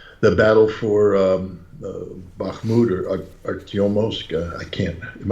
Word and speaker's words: Bakhmut: analysis the uh the battle for um uh bahmoud or or I can't am I pronouncing that incorrectly you're absolutely correct okay is